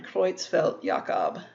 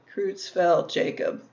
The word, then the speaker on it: Creutzfeldt-Jakob: cow disease in cows in humans it's called creutzfeldt-jakob that's how you would pronounce that in the german creutzfeldt-jakob or in english kruetzfeldt jacob and it makes these